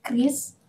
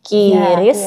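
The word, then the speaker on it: QRIS: Kris ya Bu bukan Kiris dari Bank atauis ya. Saya baru tahu kamitin baru tahu bahwa pengucapan yang benar itu bukan kiris, curis ataupun bahkan yang lain, tapi kita satu kata semua pakai.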